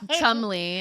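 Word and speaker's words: Cholmondeley: So with the Marchioness of Chamondelay. Oh yeah, Chumley is how they pronounce it.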